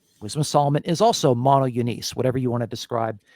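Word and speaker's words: μονογενής: This word monogenes, that's how it's pronounced in the modern Greek.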